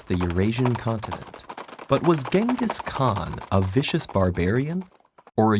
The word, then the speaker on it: Genghis Khan: on I see your honor is familiar with Genghis Khan the 13th century warlord whose military campaigns killed millions and left nothing but destruction in their wake objection first of all it's pronounced chingus Han really in Mongolia yes regardless he was one